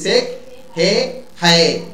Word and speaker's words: Sechehaye: স্পেলিংটা কি লেখো? SECHEHAYE, দেখো তো উচ্চারণ করে, SECHEHAYE, তাহলে সেক, যদি আমরা উচ্চারণ করি সেক হে হায়ে, সেক হে হায়ে, এটা উচ্চারণ হচ্ছে, তাই না?